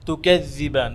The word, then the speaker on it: تكذبان: তো আমরা যেই কথাগুলো বলেছি যে তুকাজ্জিবান, যখন এই জাল উচ্চারণ করেন তখন জালটাকে আরেকটু টাচ করবেন, এখানে সাদ্দা আছে যেন আওয়াজটা চলে, জালের আওয়াজ রখাওয়ার আছে, হ্যাঁ, জালের মধ্যে রখাওয়া আছে, এটা সিদ্ধার হরফ না, আওয়াজ চলবে।